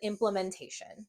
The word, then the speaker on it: implementation: go implmentation implementation and when you say it quickly this a sometimes has its lazy sound called a schah which we'll talk about in another video but you will pronounce it implementation leave a comment below